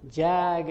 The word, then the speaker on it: Jag: this geography so we'll call you jag as in Jaguar and ever since that